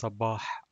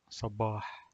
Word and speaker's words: صباح: And the last letter here in the word sabah is Ha, and it's pronounced like H, but it emerges from the throat. Like if you're clearing your throat or coughing, it's sabah, sabah.